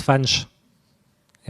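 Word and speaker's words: Fañch: Donc, ils ont eu leur tilde pour le nom Fanche qui signifie François. Si vous ne mettez pas le tilde, ça se prononce Fanch. Et en mettant le tilde, ça devient Fanche.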